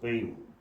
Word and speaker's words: Paine: Thomas பெயின், பெயினின்னு இருக்கும், ஆனால் Thomas பெயின் தான் ப்ரொனவுன்ஸ் பண்ணணும்.